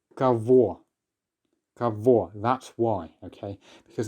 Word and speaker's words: кого: The pronunciation is v because this is a rule that we've seen. Very often in Russian, the letter g, if it's in between two vowels, will often be pronounced as a v.